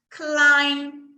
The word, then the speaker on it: climb: A gente tem swing, play, slide, climb. Eu não pronuncio o B. Climb, climb. Termino com a minha boca fechada. Não existe B aí, tá?